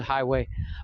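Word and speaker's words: Huawei: called highway or highway it's spelled hawaii but it's said highway but yeah highway highway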